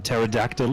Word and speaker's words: pterodactyl: don't we why because the p in pterodactyl is silent why i don't